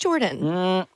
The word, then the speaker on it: Jordon: I think it's just Jordan. Jordon. Okay, Again, Jordon. Look at how it's spelled.